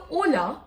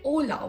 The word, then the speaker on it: hola: So hola, we say hola. We don't say the word H. We don't say hola, right? We say hola. So that's why H is silent in Spanish.